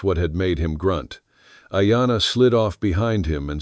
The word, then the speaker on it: Ayana: Then Ayana. He tasted the syllables, the long vowel like a held breath. Ayana, he said back to